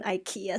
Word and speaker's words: IKEA: only problem like qdcrafts is the number one ikea supporter i do love my ikea products i